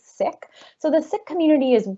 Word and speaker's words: Sikh: that's si KH not seek that's not how we pronounce it actually it's sick so the Sikh community